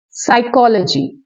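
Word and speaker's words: psychology: लेकिन यहाँ P जिनके सामने मतलब स्टार्टिंग वर्ड P है, जैसे PS, PN, PT, ऐसे वर्ड्स में P की साउंड हम नहीं देते।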